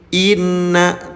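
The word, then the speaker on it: إنّ: Inna tapi tahan dulu. Inna tahan dua ketukan atau dua harakat.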